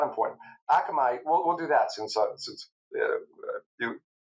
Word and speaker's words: Akamai: It's called Akamai, Okay. Akamai. which, Okay. oh boy, uh, it means it's a Hawaiian word. It's also a fish, but oh gosh, they're going to get my favorite clients are going to get so You mad at me. you were putting the emphasis on the wrong syllable.